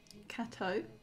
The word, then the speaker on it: Cateau: a short visual novel kato i think it's pronounced like gato but it's cat yeah